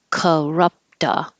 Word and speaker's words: corrupt: Corrupta. So where is it? The T in corrupt changes to a D when it connects to the A. So it'll sound like corrupta.